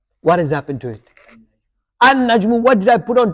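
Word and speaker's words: النجم: And I've skipped these two letters, brothers. Yeah, notice? Yeah, an najmu. An najmu. Sorry, I skipped the lam. I didn't pronounce the lam.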